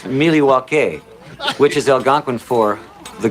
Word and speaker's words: Milwaukee: Actually, it's pronounced Milywake, which is Elgangquin for the good land.